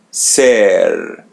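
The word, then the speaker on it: ser: As you see the letter E or E in Portuguese, so pronounce it as E. S. And there R comes in the end. So pronounce it as English R. Sir, sir.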